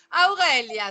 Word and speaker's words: Aurelia: Et tu me prononces parfaitement toutes les lettres. A, U, R, E, L, I, A. Elle avait le U, elle avait le E, elle avait le A, que généralement vous me sacrifiez.